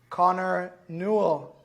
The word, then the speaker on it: Connor Newell: Today I'm thrilled to have with me Connor Newell. New? Yeah. Am I Am I pronouncing it correctly?